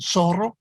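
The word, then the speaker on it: zorro: just an s sound and soro that's how the double r should sound and of course soro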